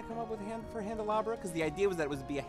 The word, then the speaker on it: Handelabra: And you can always check out the company at Handelabra on Twitter, Facebook, or YouTube. That's spelled like Candelabra, but with an H.